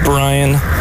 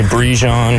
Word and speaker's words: Brian: It's pronounced Brian. Some people like to call me Brijon.